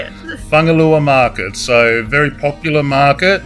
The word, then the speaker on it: Fugalei: foreign young lads who told me it's pronounced whangalua so I wouldn't say it like that but that's how we say it Bangalore market so very popular